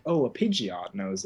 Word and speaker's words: Pidgeot: Yeah, I used to say Pidgeot's name wrong. I used to call him Pidgeot.